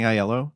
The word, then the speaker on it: Aiello: I'm assuming his last name is pronounced Aiello, I think. I'm sorry. No, I think you're right. Danny Aiello.